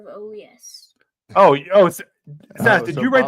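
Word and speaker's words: Urías: say about that yeah I don't like that you say AAS instead of OAS oh oh did you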